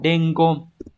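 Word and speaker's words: 伝言: Đọc là dengon.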